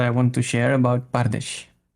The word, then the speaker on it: Pardes: We start with 4 letters. The letter P, the letter R, the letter D, and the letter S. But we pronounce it Pardesh. So we don't consider the vowels. Mm-hmm. We only consider the consonants.